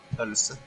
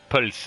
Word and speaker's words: pølse: Pølse. Fels. Is it what of an F or a P at the beginning? A P. Pulse.